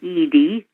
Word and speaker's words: Edie: probably you all know my name is an ed the last name is spelled e d i e people get that